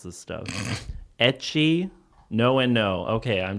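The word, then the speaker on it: ecchi: Is it pronounced Eki?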